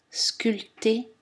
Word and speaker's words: sculpté: les prononcer sans aspirer attention la lettre b n'est pas prononcé dans les mots comptés baptême sculpté et tous leurs dérivés